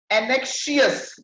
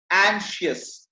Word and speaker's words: anxious: हम लोग क्या पढ़े होते हैं इसको? एनेक्शियस। नो, इट्स नॉट एनेक्शियस, एंशियस, ठीक है।